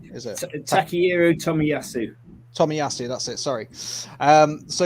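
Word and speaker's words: Tomiyasu: to you again is it Tak Tommy yasu Tommy yasu that's it sorry um so yeah there's there's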